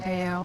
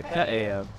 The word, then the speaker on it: Ka'eo: So we definitely accent the Ka'eo. Did I say it right? As if you're doing like uh-oh, like uh-oh. Ka'eo. Yeah, Ka'eo.